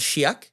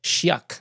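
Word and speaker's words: Chiac: definitely was interesting so what's how do you pronounce again the dialect it's called Shak Shak yeah Shak I think it's c h a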